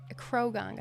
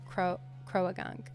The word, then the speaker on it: Croagunk: that's uh Crow it crogunk I guess is the right way to say it but I always say Croagunk and he's shiny too